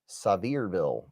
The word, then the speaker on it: Sevierville: He said Sevierville is pronounced Sevierville.